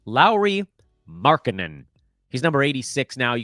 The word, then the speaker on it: Lauri Markkanen: I keep jumping over a syllable in his name because I'm in such a rush. Lauri Markkanen.